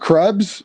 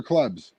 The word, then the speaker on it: Krebs: Was that Krebs? Is it Krebs or Klebs? Oh my God, bro! I'm not sure how it's pronounced.